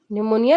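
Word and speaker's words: pneumonia: मतलब होता है जान इसमें पी वर्ड साइलेंट हो जाएगा तो इसको क्या पढ़ेंगे न्यूमोनिया न्यूमोनिया निनिया मतलब होता है फेफड़ों की सूजन निमोनिया का मतलब होता है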